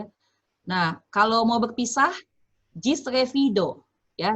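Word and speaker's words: ĝis revido: Nah, kalau mau berpisah, gis revido. Ya, G dengan topi dibacanya J. Jadi gis revido.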